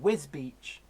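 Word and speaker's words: Wisbech: win WIC and then wisbeach wisbeach is wisps patch well so it's spell twist bench but it's wisbeach so yeah Ohio chairman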